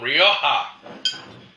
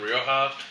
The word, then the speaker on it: Rioja: Now, we're going to look at some Spanish wine from Rioja. That last J is always a H.